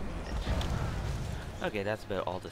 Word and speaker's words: Munich: I'm calling it Munchie, even though it's pronounced Munich.